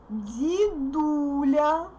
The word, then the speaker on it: дедуля: Now it's unstressed, therefore I say di. Дедуля.